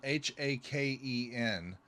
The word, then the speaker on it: Haken: little bit ago was Haken. Okay. Um they uh it's spelled H A K E N. It's haken like bacon.